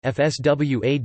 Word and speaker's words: François: Nicolas Louis François de Neufchâteau, French pronunciation FSWA de Neufchâteau, the 17th of April 1750 to the 10th of January 1828 was a French statesman, poet, and scientist.